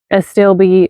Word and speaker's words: astilbe: And then also astilbe, I think is how you say it.